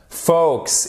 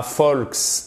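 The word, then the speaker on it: folks: prononce pas le elle fox est pas volks non fox et et parfois vous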